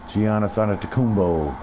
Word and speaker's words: Giannis Antetokounmpo: Giannis Antetokounmpo.